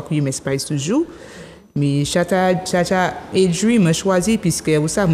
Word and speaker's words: Shatta Adri: Mon nom d'artiste c'est Chata Adri. Oh, Chata Adri. Bon, mon cas prononcé comme Chata Adri, mais les gens ici prononcent Adri.